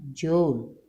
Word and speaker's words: Joule: ini merupakan usaha satuannya Jul Joule tulisannya bacanya George F Ini adalah gaya